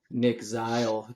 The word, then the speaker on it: Zeil: special guest today um from Colorado Christian University Nick zle did I pronounced that correctly you did yeah you want